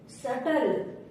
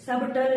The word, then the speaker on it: subtle: सटल, SUBTLE, सटल। सबटल नहीं, सटल।